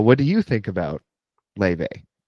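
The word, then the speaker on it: Laufey: Let's go see this artist. Okay. The artist is named Le. Um, it's spelled L A U F E Y.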